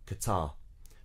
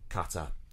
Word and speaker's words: Qatar: q8 and but it is apparently qatar or qatar it's not qatar um again do you say it their way whatever um bbc recommendation qatar so there's just a